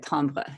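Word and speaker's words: timbre: different tambers um so it's actually t m b re is the the word tomra it's a French word I think um but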